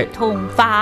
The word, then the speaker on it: 油桐花: 就是油桐花，已经快油桐花。